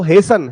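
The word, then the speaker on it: hasten: इसको क्या पढ़ना है, ओ हेसन, हेसन जल्दी करना, ठीक है।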